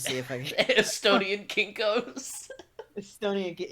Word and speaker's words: Kinko's: Estonian Kinkos. Estonian. Yes, it's pronounced Kinkos.